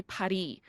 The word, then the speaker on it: Paris: they don't pronounce it paris they say paris they they don't pronounce the s so it's just a